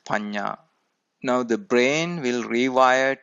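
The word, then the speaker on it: paññā: Note that panya is spelled P-A-N-N-A. It is pronounced panya.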